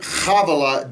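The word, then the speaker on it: Havilah: the whole land of havela where there is gold that word chavala begins with a head it's not ha with a hey havela okay we oftentimes mispronounce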